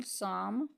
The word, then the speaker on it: psalm: Next silent letter is P. For example, psalm, secretary, psychology.